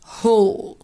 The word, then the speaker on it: hall: طيب نعرف الولاد برضو ان الA لما يجي وراها L تتنطق O، فنقول sports hall. Hall.